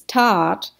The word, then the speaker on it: That: tot so the t the h is silent t-h-a-t it looks like that in english but it's not that in english it's tat which means um it's